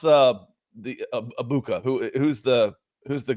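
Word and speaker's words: Egbuka: Um, pronounce uh the Ibuka. Who Who's the Who's the guy they took at wide receiver, Nick? Uh, Egabuka.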